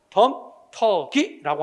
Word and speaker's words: 덤터기: 야, 네가 나한테 덤태기 씌우냐? 틀려. 덤태기가 아니라 시작. 덤터기라고 하는 거 발음한다는 것도 기억해두고 이런 것들은 특별히 발음 문제보다는 근데 여러분 생각해봐.